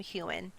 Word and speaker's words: Heughan: Okay, his name is properly Sam Heughan. Scottish people put a lot of extra letters in their names that they don't pronounce.